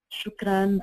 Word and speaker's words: shukran: For example, last year we designed a card that says shukran and on the back we explained that this word is pronounced shukran and it means thank you in Arabic.